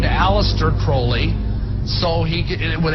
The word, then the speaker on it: Crowley: He likes to be have his name pronounced Crowley to rhyme with holy.